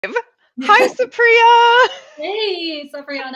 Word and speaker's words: Supriya: heck you are sure um my name is Supriya and it's secret not Sabrina um which a lot of people call me